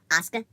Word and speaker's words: Asuka: Would you believe me that it's actually pronounced Asuka?